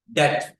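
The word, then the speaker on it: debt: अभी क हो जा डेट बी इसम साइलेंट रहता है बी को भूल जाओ इसको डेट बोला जाएगा कर्जा या देनदारी या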